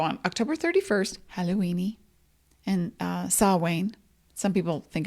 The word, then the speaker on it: Samhain: So on October 31st, Halloweeny and Samhain. Some people think it's pronounced Samhain, but it is Samhain.